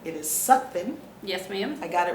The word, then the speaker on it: Sutphin: i need to acknowledge that i have been mispronouncing your last name it is sucking yes ma'am i got it right yes ma'am